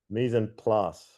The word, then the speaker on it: mise en place: Mise en place rhymes with glass. The closest English pronunciation to original French.